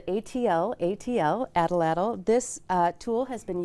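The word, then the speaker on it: atlatl: Tools in Michigan history and this is an adalle an it is spelled ATL ATL adalle this uh tool has been used for Millennia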